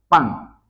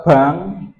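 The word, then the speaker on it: 빵: Contoh dari kosakata sang biep P, A, ing, maka ini harus dibaca pang. Kalau dibaca bang, itu salah ya, karena dari masing-masing vokal pengucapan ini sudah beda arti.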